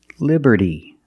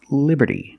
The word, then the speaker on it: liberty: And we see the T in liberty is between vowels, so it's pronounced like a fast D. Liberty, liberty. Not liberty, but liberty.